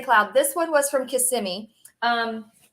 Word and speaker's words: Kissimmee: this one was from Kissimmee um not pronounced kiss m e it's Kissimmee it's all one word okay um it's not kissing me Kissimmee one whole word so there's Kissimmee Florida